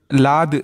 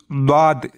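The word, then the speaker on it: ضاد: லாது அப்படின்னு உச்சரிப்போம், அது வந்து தவறான உச்சரிப்பு. சரியான உச்சரிப்பு துவாது, துவாது அப்படிங்கிறது தான் சரியான உச்சரிப்பு. இதோடைய மஹ்ரஜ் என்னன்னு பார்ப்போம்.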